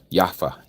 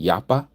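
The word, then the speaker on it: יפה: Yafa. Yafa. That means beautiful in a some people pronounce it yappa. Yapa with a p or with the f sound.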